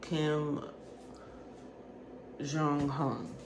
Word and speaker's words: Kim Jonghyun: Blessings to Kim Jong-hyun. That's how you say it. Now, I'm not the best pronunciator here.